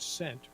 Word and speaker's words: scent: The C is silent. It is Scelfo. Like in the word scent, right?